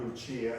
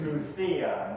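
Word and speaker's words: Lucía: One time in Spain, where my daughter lives, I had the misfortune of mispronouncing one of her friends' name. Thank you, Lucia, and they all died. It's Lucia in Spain. It's a TH sound.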